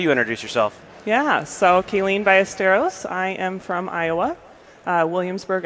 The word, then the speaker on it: Kaylene Ballesteros: Like you got it, Kaylene Ballesteros.